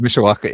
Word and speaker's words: Mishawaka: Mishawaka, Indiana.